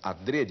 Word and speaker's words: adrede: chamado adrede o Aurélio Eu recomendo a treria a pronúncia fechada a Dred né que quer dizer de propósito feito de propósito alguns professores falam é muita gente fala dread mas o Aurélio eu recomenda a dradio que não quer dizer